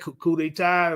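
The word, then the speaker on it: coup d'état: How you pronounce that? Coup detai.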